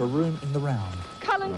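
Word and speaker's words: Culzean: Cullen Castle, west of where we are. There you are. That's spelled C-U-L-Z-E-A-N. With a Z in the middle.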